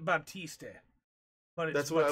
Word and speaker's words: Baptiste: not get the reference his name is spelt weird oh it's but batiste yes they spelled it be apt VAP T is T yeah they spelled it Baptiste and funny that's what